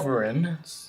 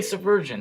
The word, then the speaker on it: sovereign: That is clearly subversion. That is how that... Sovereign. That's how it's spelled, and I feel like I've heard the word subversion before. No, it's sovereign. I guarantee you, 100% certain.